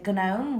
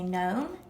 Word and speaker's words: gnome: In gnome, the g is silent. We don't say gnome, we say gnome.